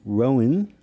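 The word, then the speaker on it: Rouen: so we drove to Rowan I think is how you say it r-o-u-e-n it is where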